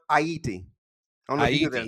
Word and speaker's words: Haiti: aside man quick aside is not pronounced Haiti it's pronounced hati I don't know that